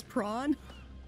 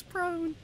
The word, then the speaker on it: prone: pronounce the word and I kept thinking it was prawn and then I said it to someone someday and I was like yeah you know like go prawn and they were like um that's a food that's a sea creature it's prone remember though you can't